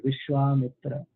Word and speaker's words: Vishwamitra: just a side note, when the name Vishwa and Mitra is there, and it actually refers to a great rishi, then the two words, when they combine, there is a long A in between. So it's called Vishwamitra.